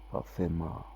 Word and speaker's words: pathema: How you pronounce it here again? Pathema.